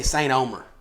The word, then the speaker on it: Saint-Omer: I'm from Saint-Omer, but how do you say it? I say Saint Omer. Saint Omer is what I say, but it's not same.